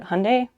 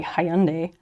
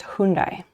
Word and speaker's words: Hyundai: what it was oh so in america they pronounce it wait how does america say it hyundai um and i've i've heard some people say hyundai which is very wrong um and i knew